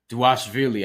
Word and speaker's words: Dvalishvili: Dvalishvili, I've heard it's V pronounced as a W, whatever the case may be, but we'll just call him Merab.